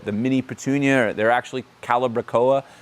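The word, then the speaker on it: calibrachoa: mini petunia they're actually calibra COA uh if you want to know how to pronounce that word I hear calaba Cal I've heard everything calbra COA doesn't like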